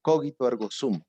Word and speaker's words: cogito ergo sum: debe llevar a cabo una palabra en latín que se pronuncia cogito ergo stump cogito ergo sum pienso luego existo ojalá